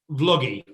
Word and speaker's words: Vloggi: okay so um stage what's the right pronunciation vloggy or logie vloggy um like a like a vlog like a video blog and essentially look what